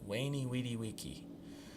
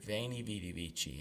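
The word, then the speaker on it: veni, vidi, vici: it just sounds better we have to cringe when we hear someone who has learned classical style say wainy wedi vici I came I saw I conquered so much nicer to hear vanie be BBG and that is how we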